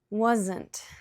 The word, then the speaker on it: wasn't: Wasn't, 2 syllables. The T at the end sometimes is very soft. You can hardly hear it. Wasn't. You just tap your tongue, but sometimes the T doesn't even come out.